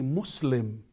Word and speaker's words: Muslim: And always when they say Muslim, they said Muslim. Again, Muslim, if we turn off the light. So, Muslim. Ana Muslim. Al-Islam. No more Al-Islam. No more Muslim. Yes, Al-Islam. Yes, Muslim. It's a language.